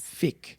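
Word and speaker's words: fiqh: do you fi q h q h yes Fick yes okay so Sharia is basically the divine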